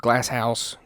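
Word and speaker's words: Glazhaus: this Village and the village is called glass house it's spelled g l a z h a u s I like that so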